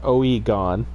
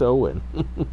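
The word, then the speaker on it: Eoghan: And it's not Oegon. It's Owen. And how do you spell it?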